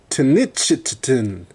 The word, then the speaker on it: Tenochtitlan: I may not be pronouncing it right. Tenochtitlan. Sounds like chitlins.